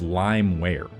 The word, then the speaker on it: LimeWire: In that same video, I mispronounced the word Limewire, which is how I've always pronounced it, and that's the correct pronunciation as Limeware.